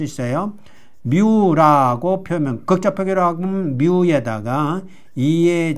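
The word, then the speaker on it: μ: 여기 그리스 문자가 또 나왔어요.이 뮤라는 것은 영어에는 m으로 발전한 것인데 비슷하죠. 뮤라고 있습니다. 뮤. 뮤 뮤. 여기다가 뮤라고 읽어서 요렇게 쓰고 뮤라고 읽어요. 그는 우리는 무 이렇게 읽을 수도 있지만 이게 뮤라는 거예요. 뮤. 그리고 여기 뉴라는게 있는데 요렇게 씁니다. 뉴라는 것은 뉴라는 것은 요렇게 써요. 뉴라고 쓰고 뉴라고 읽어요. 그러니까 영어의 N에 해당되고 뮤는 영어의 m에 해당되고 뉴는 영어의 N에 해당된다.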